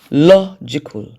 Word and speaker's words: logical: Logical. Logical. The stressed syllable is law.